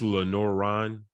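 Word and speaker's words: Lenoir-Rhyne: Is that why you ended up in it's Lenoir Rhyne? Yeah. Okay, I just want to make sure I pronounce that right.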